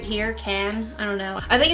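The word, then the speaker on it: Cannes: step into this shade cans right here can I don't know I think it's French and I don't think you pronounce the S so I think it's can this purple shade right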